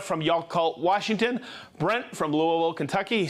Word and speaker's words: Louisville: Brent from Louisville, Kentucky. See how I said Louisville? That's how you say it.